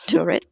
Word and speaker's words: Turid: So I'm Turid. For everyone who didn't know how to say my name, it's Turid.